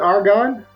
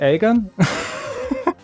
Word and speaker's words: Agon: a a so Aon some people have called it argon uh in other words they put the r in there uh in German you would say Aron and in English I would say Aon I pronoun it Aon I pronounce it Aon I think because I just say what I see because I'm from Manchester so it's I believe other people pronounce it differently but I'm sticking with that I've never asked Bernardo